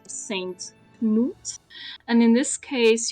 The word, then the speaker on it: Knut: and in this case, you can't get away with not pronouncing the K as you usually do in English with ni or night. In this case, you have to pronounce the K. It's Knut.